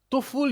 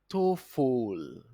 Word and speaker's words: TOEFL: TOEFL is being pronounced as TOEFL. TOEFL. TOEFL. TOEFL. That is the correct pronunciation for TOEFL exam.